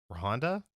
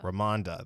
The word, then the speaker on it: Ramonda: Bassett as Queen and I'm gonna butcher the last name rohonda raimondo ramonda there we go uh tanagura is